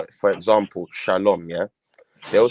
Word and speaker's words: shalom: Furthermore, they're not even saying peace because they're saying shala wam. That wam, that W in the wam is a vowel. It's the vowel. So it's shalom.